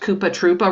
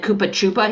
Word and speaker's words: Koopa Troopa: The other highlight is how Gretchen pronounced Koopa Troopa wrong. And she said Koopa Chupa.